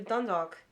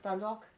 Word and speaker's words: Dundalk: Dundalk. Almost. Almost. You've got the L being replaced with the W, right? But you're saying it as though it's two words jammed together.